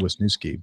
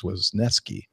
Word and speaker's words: Wisneski: thank you he uh I always have trouble with his last name um I think I keep calling it wisi but it's wisneski he spelled that out